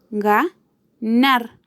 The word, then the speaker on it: ganar: Ganar. Su acento está en la última sílaba, nar, pero es una palabra